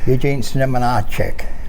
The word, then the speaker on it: Eugene Znamenacek: I'm going to call you Gene Z, but I'm going to let you pronounce the last name. So go ahead, please. Eugene Znamenacek.